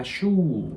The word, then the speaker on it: Schuh: 여기 STH 하고 나서 우하 나오잖아요. 근데 여기에 맨 뒤에 있는 요 하 같은 경우는 소리가 나지 않아요. 묵음입니다. 대신에 왜냐면은 모음의 바로 뒤에다가 하가 이렇게 붙는 경우는 요 모음의 소리를 길게 내줘요. 그래서 슈 이런 게 아니라 슈 이렇게 해주시면 돼요.